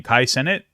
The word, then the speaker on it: Cenat: one here how do you say his name Kai Senate um he calls out Destiny I guess it's